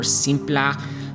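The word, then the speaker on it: Simpler: If you're opening up Wavetable or Operator or Vector Grain or Simpla, because apparently you have to say it like that now, or Jita on the LFO.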